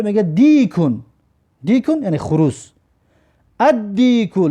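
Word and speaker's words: الديك: ادیکو لام ببین تلفظ نکردیم و الف در دال شدت دادیم و الف در دال همراه کردیم. ادیکو، الدیکو نه، ادیکو، ادیکو یعنی که خروزی معین.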